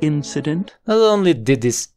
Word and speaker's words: incident: muy muy rápida incident la forma fuerte está en la primera sílaba incident incident incident har harm esa es